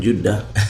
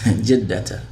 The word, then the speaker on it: جدة: We don't pronounce that with Judda. Jiddata.